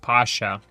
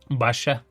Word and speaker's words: Pasha: Well, it's pronounced Pasha, but in Turkish or Arabic, also Russian, you're probably thinking Pasa in um in Hebrew and in Russian, Pasa means Passover. So, what does that mean in Turkish and Arabic? Pasha translated to English as Basha. My Arabic friend actually always pronounced my name Basha.